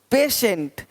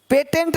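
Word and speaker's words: patient: है ही नहीं देखो पेशेंट पेटेंट नहीं पेशेंट पेटेंट पेशेंट पेटेंट पेशेंट तो श पेशेंट देख पा रहे हैं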